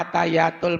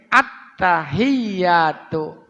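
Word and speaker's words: التحيات: dibawa enggak ada tasjidnya bacanya atayatul Mubarokah u atayatul ah itu enggak boleh atayatul harusnya attta tekan dikit attahiyatuah gitu ya ini ada ada di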